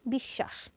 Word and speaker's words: বিশ্বাস: যুক্ত ব্যঞ্জনটির দৃত্ত হবে যেমন বিশ্বাস এখানে মাঝের শব্দ অর্থাৎ স এর সঙ্গে ব যুক্ত আছে যেহেতু মাঝে ব ফলা যুক্ত আছে তাহলে এই যুক্ত ব্যঞ্জনটির অর্থাৎ স এর দ্বিতীয় উচ্চারণ হবে দীত্ব বলতে ডাবল বা